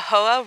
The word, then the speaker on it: Hoh: going to interrupt you because you have been pronuncia the rainforest all wrong you have been saying HOA and I can understand why most people would